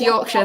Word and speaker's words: Yorkshire: she's in Yorkshire I believe is how you pronounce it I'm trying to say it right yes Yorkshire that's correct you know she's like it's raining